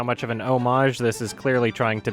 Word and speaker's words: homage: how much of an homage this is clearly trying to be. Or "homage", I guess. 'Cuz, apparently I'm supposed to pronounce it that way.